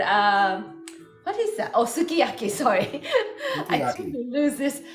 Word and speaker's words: sukiyaki: is very uh actually I know the English pronunciation say Sukiyaki but actually the Japanese pronunciation right way would be Sukiyaki it's like a flat word the Sukiyaki so Sukiyaki